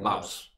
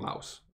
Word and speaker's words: Laos: You're saying Laos. Yeah. Or Laos, however you, Well, they, I say it both ways. Right. Say Laos, some people say Laos.